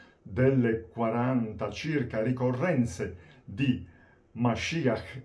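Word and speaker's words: משיח: parola della Bibbia ebraica, la parola Mashiach, che ai tempi di Gesù aveva cambiato leggermente pronuncia nell'aramaico, Mashiach.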